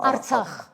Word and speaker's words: Artsakh: le Haut-Karabakh, l'Atrax, vous l'appelez comme ça, vous prononcez Atrax, hein, Artsakh.